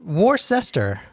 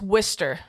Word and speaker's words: Worcester: it's not where they make Wier sauce w war sester it's Worster w i s t e r that's how you pronounce it wer no not with an i